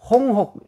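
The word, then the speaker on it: 鴻鵠: 기러기 할 때는 혹이라고 읽고. 그래서 여러분, 홍혹, 그러잖아요. 홍혹. 연작이 참새와 제비가 어찌 아느냐. 이때 곡이라 일장, 홍혹지지를 어떻게 아느냐. 그리고 여기 표적할 때는 곡이라고 읽습니다. 차이가 있어요. 네. 옛날에 한번 북경대 총장이 뭐 입학 졸업식인가 뭐 기념사에서 이걸 잘못 읽어서 중국에서 망신을 한 적이 있어요. 실저 전곡. 홍혹 할 때는 혹이라고 읽고, 표적을 할 때는 곡이라고 읽는다.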